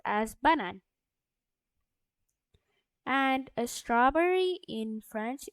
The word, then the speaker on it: banane: And banana in French it's basically the same as in English, but it's pronounced as banane.